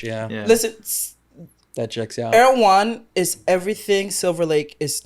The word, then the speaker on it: Erewhon: Erewhon is everything Silver Lake is not.